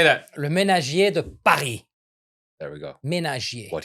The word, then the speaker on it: Le Ménagier de Paris: Le ménagier de Paris.